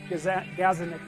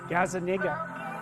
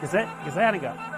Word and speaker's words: Gazzaniga: And you know, there's a neuroscientist named Gazzaniga. I don't know how to say his name. Gazzaniga. That's wrong. Gazzaniga. Yeah, I think that's it. Anyways, he did some of the earliest experiments on split brains.